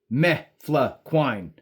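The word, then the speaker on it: mefloquine: Now, you might ask, how do you spell me fluquin? Well, it doesn't look exactly like it sounds.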